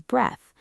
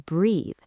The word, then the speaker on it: breath: The noun is breath. But the action, the verb is breathe. B r e a t h e. The pronunciation changes completely. The noun has a short e sound like bed, breath, take a breath,